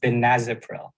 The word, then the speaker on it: benazepril: saying it sometimes um it's actually pronounced benazepril vanessa okay so benazopril